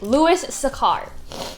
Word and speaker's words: Louis Sachar: So, the book that we're going to talk about today is Holes, and the author is Louis Sachar.